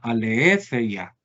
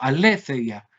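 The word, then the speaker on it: ἀλήθεια: de filosofía, la palabra aletheia. Aletheia, ¿la ven ahí? ¿No? Aletheias G. Observen que el acento que yo tengo acá está sobre qué sílaba, última, penúltima o antepenúltima. Antepenúltima. Antepenúltima. O antepenúltima. Y recuerden que el acento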